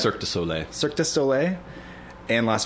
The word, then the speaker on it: Cirque du Soleil: their six kids to cirque du lay or how do you say that cirque du soleil cirque du soleil and